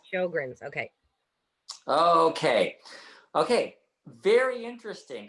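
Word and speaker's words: Sjögren's: diet and supplements for sergeant syndrome i'm pronouncing that wrong sjogren's shogun's okay okay okay very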